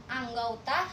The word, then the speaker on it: anggota: Kata anggota diucapkan anggauta, sentosa diucapkan sentausa.